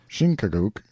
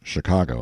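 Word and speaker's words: Chingachgook: his acute Indian experts shinuk pronounced Chicago I think has lost the trail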